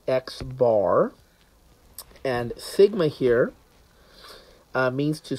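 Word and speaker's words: x̄: And so we pronounce this as the sample mean, which is pronounced as X bar.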